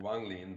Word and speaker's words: Wang Lin: see the differences between Wang Lin and Meng Hao. Is that how I pronounce it? Cool. Yeah. Great. I'm still you got the still first getting one, there. Wang Lin, but close enough. Wang Lin and Meng Hao.